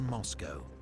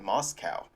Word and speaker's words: Moscow: Because maybe I'm just weird and it's not typical of Americans like this, but I always called it Moscow. You know, like cow, like moo, like a farm animal type thing. Moscow.